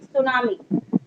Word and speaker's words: tsunami: देखो ये रहा, TSU, इसमें टी साइलेंट होता है, TSUNAMI, सुनामी।